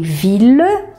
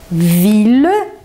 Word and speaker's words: ville: Y, você pronuncia L, mas nesse caso dessas três palavrinhas, também será pronunciado com L só. Então, você tem ville, ville, que é cidade, village,